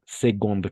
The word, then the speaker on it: seconde: La première classe ou seconde classe. Seconde. Con la G vamos a pronunciar eso y no con la C.